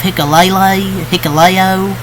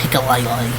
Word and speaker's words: Hikuleo: You can have Hikuleo. I think it's how you say his name, not Hikulele.